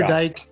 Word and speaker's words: Dyck: Dyck or Dyke. You pronounce it any way you like.